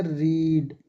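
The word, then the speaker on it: read: देखो, तीनों की फॉर्म सेम है, लेकिन फर्स्ट फॉर्म को हम पढ़ेंगे रीड। क्या पढ़ेंगे इसको? रीड, रीड। लेकिन इन दोनों को पढ़ेंगे हम रेड।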